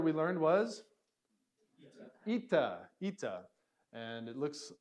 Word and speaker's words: eta: So this is a long E sound. E, eta. All right.